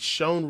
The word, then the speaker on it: Shan: guy and Shan thanks Shan rhymes with uh Grant Co with John coach just L Sean yeah